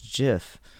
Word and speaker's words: GIF: up everywhere I look even the even the creator of gifts calls it jiff it's like it came down to him and everybody's like how do you how do you say it he's like it's jiff I'm like what the you doesn't make sense no it does not it's a hard G it is a hard